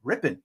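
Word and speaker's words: Rypien: going to be filling in yes it is pronounced rippen not like I said in the uh in the pregame preview that I did someone pointed out to me that it's not RI R in it's actually ripping uh that's should have looked at Rams content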